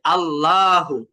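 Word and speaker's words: الله: একটা জবর দেখতে পাচ্ছি এই যে জবর থাকার কারণে আল্লাহ শব্দের লামের লামটাকে আমরা মোটা করে উচ্চারণ করব কিভাবে যেমন আল্লাহু আল্লাহু তারপর দুই নাম্বার শব্দে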